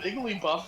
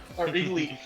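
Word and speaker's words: Igglybuff: a little bit of Iggly buff in him, then igly gosh, I said it wrong. Uh, Iggly D. Yeah. No, it is Iggly Buff.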